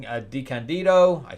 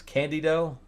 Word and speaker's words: DeCandido: Anderson, Bill Willingham, Kevin DeCandido. I said it's Candido. I said it wrong.